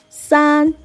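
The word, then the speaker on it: 三: And the third number, san. San, just like yi. San is a flat tone as well, and it just three dashes.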